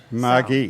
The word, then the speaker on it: Margie: And they said that there's not really a way to spell that name the way I want it pronounced, but we got it as close as you can. Margie.